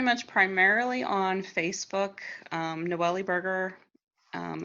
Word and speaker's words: Noellie Burger: um noelly burger um a lot of people don't know how to pronounce my name even george c romero it up i still give him for her um but it's n-o-e-l-l-i-e burger just like the food so you always told